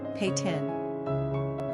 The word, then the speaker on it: Peyton: Pronunciation, Peytun.